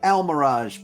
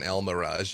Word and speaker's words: Almiraj: Like, Just friends, for those of you who don't know what an Almirage is, do yourself a favor and Google it. It is spelled Almiraj. Almirage. Yes.